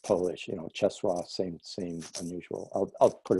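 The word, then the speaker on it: Czesław: this is called incantation um uh me wash is spelled m-i-l-o-s-z it's polish you know chess wall same same unusual i'll put it up on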